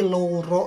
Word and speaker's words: loro: ada uu-nya loro Sedangkan kata loro yang artinya sakit atau menderita untuk pengucapannya itu sangat jelas yaitu loro Hai jadi luro itu untuk dua loro itu untuk sakit